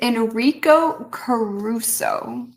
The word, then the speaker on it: Enrico Caruso: And the answer is Enrico Caruso.